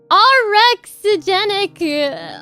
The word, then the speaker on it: orexigenic: And then you have your orexigenic.